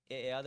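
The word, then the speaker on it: אחד: 자, 하나 첫째란 뜻의 이 단어는 하나님의 유일하심과 삼위일체를 나타내는 이 히브리 단어는 에, 에, 에아드 맞습니다.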